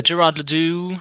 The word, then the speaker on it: Gerard le Doux: five and how do you say your name gerardly uh Gerard Ladue uh Gerard everything's everything's fine no worries uh